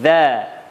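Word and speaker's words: ز: Kemudian huruf selanjutnya za. Za cara mengucapkannya yakni mempertemukan ujung lidah kita bertemu dengan ujung gigi seri atau ujung gigi depan.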